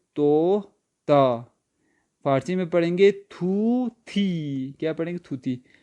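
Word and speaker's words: طوطی: فارسی میں پڑھیں گے تھوتی. کیا پڑھیں گے؟ تھوتی. اردو حساب سے پڑھے تو توتی بنے گا، توتی، لیکن فارسی تلفظ میں تھوتی.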